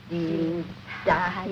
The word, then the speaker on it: Dienstag: Sonntag, Montag, Dienstag, Mittwoch. That is good, but pronounce the words broader, so Sonntag, Montag, Dienstag, yes?